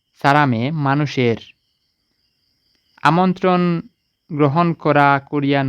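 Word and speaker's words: 사람의: করা হাঙ্গুক মানে করিয়া সারামে মানে মানুষের এটার উচ্চারণ উই হবে না এ হবে অনেকে উই বলতে পারে এটার উচ্চারণ হবে এ আর এটার অর্থ হবে র সারামে মানুষের আমন্ত্রণ গ্রহণ করা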